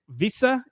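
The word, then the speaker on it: Wissa: see from Brenford uh Visa and Embeo I hope I'm pronouncing those right I say them all the time whenever I'm like, "Oh yeah, it's Whissa and Embemo, but that's that's so anglicized."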